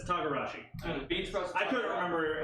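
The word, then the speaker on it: togarashi: Thank you, Teragashi. right over my head. Or Tagarashi. That's yeah, that's what it is. Tagarashi.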